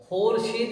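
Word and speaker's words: ख़ुर्शीद: जाएगा खोरिस पढ़ा जाएगा खोर शद लिखा जाएगा खुर्शीद पढ़ा जाएगा खोर लिखा जाएगा खुंदा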